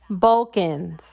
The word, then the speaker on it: Balkans: So it is, I looked this up because I didn't want to pronounce it wrong, but it's called Balkans.